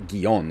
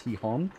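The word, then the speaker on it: Gijón: saying he han incorrectly it's not gion as i've been saying it's he hon so here we go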